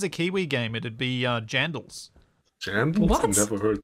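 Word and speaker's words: Jandle: Jandal. J-A-N-D-L-E. Like Vandal, but with a J.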